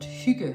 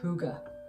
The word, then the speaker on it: hygge: it grammatically speaking since the word is actually pronounced shuge a word which would be impossible for most foreigners to pronounce we completely forgive the dictionary for suggesting that it's pronounced hygge and please make mary with the word by